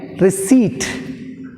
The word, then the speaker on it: receipt: Receipt.